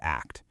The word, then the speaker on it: ACT: And we pronounce it just like the word act.